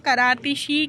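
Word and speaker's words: كراتشي: कराची को अरबी में करातिशी कहते हैं, क्योंकि चे को जो है यहाँ पर प्रोनाउंस करते हैं शीन के साथ, ठीक है।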